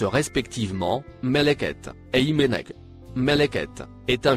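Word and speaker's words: ملكت: Les deux mots en surbrillance bleue se prononcent respectivement Meleket et Imenek.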